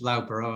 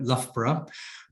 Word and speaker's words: Loughborough: In 1983, in my university, which you pronounce Loughborough, I would probably call it Loughborough, we had the second women's rugby tournament.